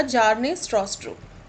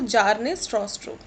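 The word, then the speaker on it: Bjarne Stroustrup: इसका correct answer होगा जार्ने स्ट्रॉस्ट्रो। ठीक है, option number C, B silent रहेगा यहाँ पे, तो जार्ने स्ट्रॉस्ट्रो।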